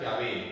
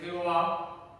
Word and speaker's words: Yahvé: Pero está bien pronunciar Yahvé, es la pronunciación. Aunque algunos también pronuncian Yahvé, por la W, ¿no? Pero por lo general se dice Yahvé, no se dice Jehová, porque ya explicamos que es un artificio, ¿de acuerdo?